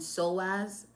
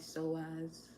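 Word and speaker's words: psoas: yes yes it does yes it does and so as is spelled PS o a s just in case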